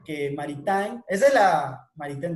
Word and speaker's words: Maritain: Ya vimos en el video que Maritain, esa es la, Maritain, mejor dicho, es que es la pronunciación correcta.